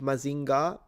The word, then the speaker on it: Mazinger: What we call Mazinga, but the Japanese, they do pronounce it Mazinga, but they spell it Mazinger. So, it's the Japanese when they have eer, they pronounce it like a a.